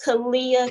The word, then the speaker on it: Kalia: record please yes and it's actually pronounced Kalia Kiara well I'm sorry um